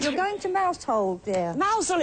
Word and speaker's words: Mousehole: Mousehole, it's pronounced. Mousehole, Right, yes, it tells us here, Mousehole. Pronounce Mousehole as in Chairman Mao, which is very helpful.